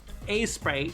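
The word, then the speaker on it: Aseprite: A-Sprite. Right, that's how I pronounce it.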